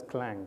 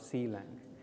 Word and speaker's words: Clang: some of the demos as well and it's pronounced as clang not Ceylon so many times people you know they say si Lang is actually clang developers they don't like that